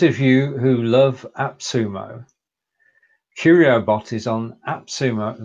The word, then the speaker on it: Quriobot: Quriobot, and that's I'm pronouncing it like that. Quriobot. Do you think that's fair? Yeah, I think that's a fair pronunciation.